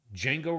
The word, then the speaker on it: Django: is distinctively European twist Django Reinhart. And yes, the D is silent Edge.